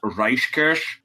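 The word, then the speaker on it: Reijkersz: I will not attempt, I assume his name is pronounced Reichkirch, but which is where we get VR from.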